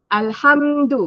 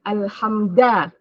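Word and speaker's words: الْحَمْدُ: Alhamdu, bukan alhamda.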